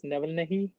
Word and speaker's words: Navalny: I guess his name is pronounced as Navalny.